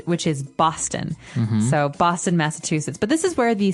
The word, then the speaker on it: Massachusetts: went in the United States is called Massachusetts Massachusetts now this is a very long very hard to pronounce word and I believe it comes from